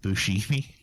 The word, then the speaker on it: Buscemi: It's pronounced Buscemi.